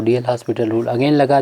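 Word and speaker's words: L'Hôpital: फ़िलहाल अब यहाँ से हम जब इस फार्म में आ गया तो DL हॉस्पिटल रूल अगेन लगा दें, क्योंकि DL हॉस्पिटल रूल हम लोग जानते हैं, जिसे l'Hopital रूल बोलेंगे, प्रोनाउंसिएशन करेंगे 0 + 0, तो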